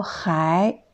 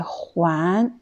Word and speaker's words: 还: Ensuite, le mot 还, quand ça se prononce 还, deuxième ton, c'est un adverbe qui veut dire encore. Exemple, 他朋友还没来。他朋友还没来。Ça veut dire son ami n'est pas arrivé encore, n'est pas encore venu. Deuxième prononciation, c'est 还. C'est un verbe, on dit 还. C'est pour dire rendre ou retourner quelque chose.